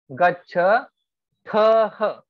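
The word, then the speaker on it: गच्छथः: Gaccha thah. Air should touch your hand.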